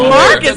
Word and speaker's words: Marques: Marques don't know what he is. Marques? No. Marques. Oh, Marques. Right, Marques.